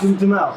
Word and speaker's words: Duhamel: character, played by Josh Duhamel. Josh Duhamel, yeah. Duhamel. Okay, yes. So that's how you pronounce it.